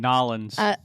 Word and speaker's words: New Orleans: You said New Orleans, and I say New Orleans. Yeah. Which and is the you're both correct wrong. way? I think Nolans. Nolans, yeah. Yeah, it's Nolans. That's how they say it, yeah.